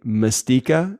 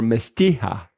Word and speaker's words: Mastika: It's Mastika or Mastija. But it's M-I-S or M-A-S? M-A-S, sorry. M-A-S. So it's spelled like mas as in mast, as in like what's on a yeah, Mastika liqueur.